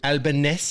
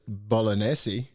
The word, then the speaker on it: Albanese: his fault um just albaness you said it's not you don't pronounce it bolognese that's that's that's how we that's how he said how to pronounce his name albaness or something like that well he's albanizing now